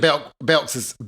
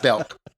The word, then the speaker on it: Belk: No, Belk is just, wait. How you say it. Is apostrophe S. We thought it was an apostrophe S. It's just K. It's not. Yeah, it's K. Just Belk.